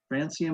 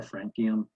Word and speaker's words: francium: sodium potassium rubidium cesium francium or frankium however you want to pronounce it hydrogen's really not in